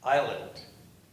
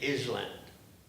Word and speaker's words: island: Because I cannot pronounce island. The teacher would always ask me to pronounce it. What does that word, you know, the boat is going toward, I'll say island. And I get slapped in the head for not pronouncing it right. And they didn't teach us any silent S or anything like.